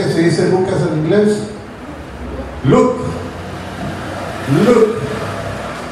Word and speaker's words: Luke: Se parece a mirar, como cuando usted dice look. L-O-O-K, es look, es mira. Pero Luke es L-U-K-E, es de Lucas, Luke. Se pronuncia casi igual, pero la escritura es lo que hace la diferencia, ¿ven?